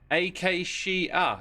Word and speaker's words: Acacia: Acacia, says Queen Mercury. That's how it's pronounced.